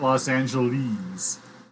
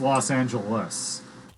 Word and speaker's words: Los Angeles: in england pronouncing this it's not los angeles so it does not despite what you might want to think about it does not rhyme with sleaze it's los angeles nobody in l.a says